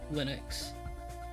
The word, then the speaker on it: Linux: Pronounce it like the I in linen. Oh, Linux.